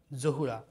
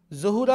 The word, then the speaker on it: যাহরা: শব্দ যুক্ত করি আমরা, জহুরা। শব্দটা এইভাবে বলি, ফাতেমাতু জহুরা। জহুরা শব্দটা আমরা ভুল উচ্চারণ করি, এর সঠিক উচ্চারণ হচ্ছে জাহরা। ফাতেমাতু জাহরা, আমরা বলি জহুরা। জহুরা উচ্চারণটা কিন্তু ভুল।